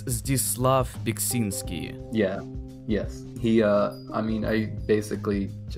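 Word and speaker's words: Zdzisław Beksiński: Belinsky? I believe it's Zdislav Biksinski.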